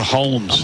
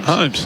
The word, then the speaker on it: Holmes: the moment I'm trying I'm struggling to ignore the L in Max holes name I I can't your Holmes I just don't know how to say his last name is it just homes just forget the L some people like the like Abby Holmes likes the Holm well how can an L exist and then not exist